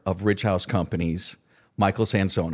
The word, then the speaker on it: Sansone: My first to say your last name to pronounce it correctly was Sansone. Yes. Right. And of course, it's that coming to America everything changes. Last name changes, pronunciation, etc. American adoption was sans son.